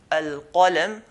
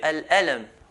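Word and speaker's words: القلم: Instead of saying al-qalam, they will say al-alam.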